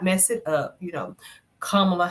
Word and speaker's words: Kamala: Kamala Harris, whatever. Not Kamila.